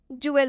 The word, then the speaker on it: dual: एक साथ हम जुएल पढ़ेंगे, मतलब कि DUAL जहाँ भी साथ में दिखे हमें उसे हम सीधा जुएल पढ़ देंगे। और जब भी डी के बाद से UAL आए, UATE आए तो उसमें हम डी का उच्चारण ज से करेंगे। यहाँ तक तो बात आप